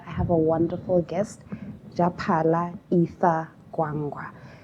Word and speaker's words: Japhala: Japhala, which people often mispronounce as everything under the sun, that's not Japhala.